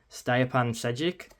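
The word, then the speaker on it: Stjepan Šejić: when I looked online, I think is pronounced Stapan Sedic.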